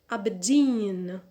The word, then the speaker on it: Aberdeen: number three aberdeen abedin so here the stress is on the last syllable and we have two unstressed syllables before the primary so we need to add the secondary stress on the first syllable which is ah so